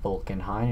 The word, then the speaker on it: Vulcan Hind: placing Vulcan Hind yes it is pronounced bulen Hine and we can see